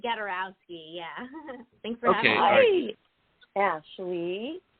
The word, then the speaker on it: Gadarowski: our guest today and I hope I pronounced your last name correctly is Ashley garosi is that correct ma'am ah hey yeah it's Ashley gadowski yeah thanks for having